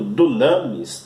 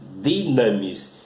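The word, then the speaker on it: δύναμις: E o terceiro termo é a palavra dinamis, apesar também de estar escrito dunamis, não é? Mas a forma correta de pronunciar é dinamis, que significa o poder de Deus.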